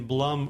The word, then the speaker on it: Blum: Kurtzals, Nigel Davies, and Marion Blum, which rhymes with plum, for your generous support of the podcast.